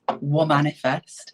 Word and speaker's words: Womanifest: So just for clarity, it's Womanifest. So it's a spin on manifesting in a weird way, right?